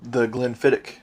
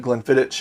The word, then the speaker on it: Glenfiddich: time, and I said Glenfiddich, and he's like, "What, mate?" It's Glenfiddich or Glenfiddich. It's a K, not a Like CH.